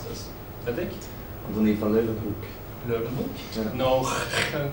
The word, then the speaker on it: Leeuwenhoek: another one who made the different type of microscope was, I don't know how to pronounce this, Fredrik? Antonie van Leeuwenhoek. Leeuwenhoek? Yeah. No. Leeuwenhoek.